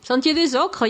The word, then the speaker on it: Sentier des Ocres: edge of the town, there's this place called Sentier des Ocres. Yep. Pardon my pronunciation. No, you're saying it good. Sentier des Ocres, yeah.